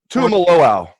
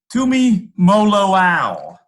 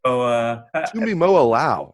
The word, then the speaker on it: Tuimoloau: I guess I don't blame you, but Tuimoloau. Close. Tumi Moloau. So Tuimoloau. Okay. Tui, yeah, JT Tui Moloau is how he pronounces that, and Emeka Egbuka